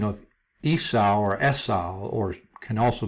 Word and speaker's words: Esau: So you have Esau, and then because it doesn't have another dot here for the U, some people pronounce this Esav. But you could also easily pronounce this Yesu, Yesu, just like Jesus, because Jesus means Esau.